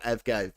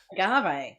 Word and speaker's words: agave: I call it Avgave, but it's not Avgave. It's Agave. Agave.